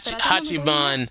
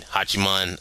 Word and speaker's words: Hachiman: a shop near the haiman shrine hachiman that's how you uh you know Japanese way to pronounce that uh if anything ever